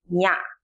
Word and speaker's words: nya: Number 10 is nya, and we pronounce it nya. It sounds like NY in Kenya or in the beginning of Niagara.